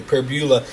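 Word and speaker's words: Pribula: It's Bo Privbula. Finally learned how to pronounce his name correctly. Pbula.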